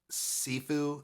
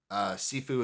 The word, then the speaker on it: Siifu: Pink Sifu is the dude's name. Sifu is spelled Siifu.